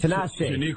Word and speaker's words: Tinashe: I can't pronounce it wrong. Is it Tinashe. Tinashe.